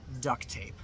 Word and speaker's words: duct tape: pronounce it that clearly we don't usually say duct tape you usually only hear the t sound once duct tape so yeah that's all